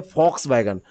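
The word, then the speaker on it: Volkswagen: है, इसको पढ़ते हैं, लिखते हैं वॉक्स वैगन लेकिन पढ़ते हैं फॉक्स वैगन।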